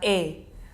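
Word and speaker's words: ㅐ: Mungkin di sini teman-teman lihat alfabetnya bacanya AE gitu ya, tulisannya AE tapi bacanya adalah E.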